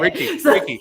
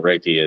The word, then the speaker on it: Reiki: and he he's a Reiki master too if you can't say it Ricky Ricky it's called Reiki I don't want to